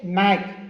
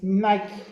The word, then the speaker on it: Nike: a pronunciar correctamente verdad no se dice Nike es Nike verdad no se dice McDonald